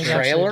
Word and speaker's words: Traylor: Except it's spelled Traylor. Still, it's like Taylor, but with trailer. Yeah. It's Taylor with an R.